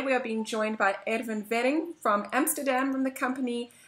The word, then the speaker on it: Erwin Werring: today we are being joined by Erwin Wering from Amsterdam, from the company Atrace, the CEO and founder.